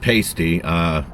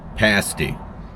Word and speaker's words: pasty: Okay, I said that wrong when I said pasty. It's actually pronounced pasty.